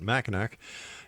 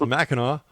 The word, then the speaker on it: Mackinac: And once again, don't make that mistake I made by calling it machin. It's macho.